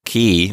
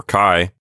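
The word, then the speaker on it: χ: Catherine, this is a good time to review the pronunciation of the letter ki, or chi. As I say our new word for this lesson, notice that I'm saying sort of a ch sound in the back of my mouth. Not too rough, but just a gentle sound, like echo.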